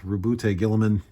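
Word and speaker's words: Roboute Guilliman: You're going to work with Rubute Gilliman, and that is how you pronounce his name, Cope.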